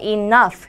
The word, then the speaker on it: enough: 여기서 여러분, F 발음이 나요. Enough.